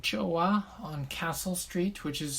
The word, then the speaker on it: Joa: korean chinese japanese and one is called joa or choa i think from the korean um meaning good or nice so it's spelled j-o-a oh yeah and uh